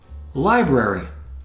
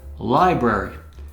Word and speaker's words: library: Library, a collection of books. Library. Here's a word that's mispronounced very frequently by native speakers who say library from when they were little kids, but it's library.